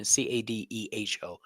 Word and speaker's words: Cadejo: Cadeho.